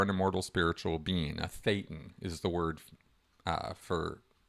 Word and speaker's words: thetan: A thetan is the word uh for that in Scientology. Uh ironically rhymes with Satan.